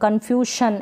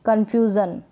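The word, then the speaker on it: confusion: कन्फ्यूशन ऐसे नहीं पढ़ सकते, कन्फ्यूशन, कन्फ्यूज़न क्या पढ़ेंगे कन्फ्यूज़न।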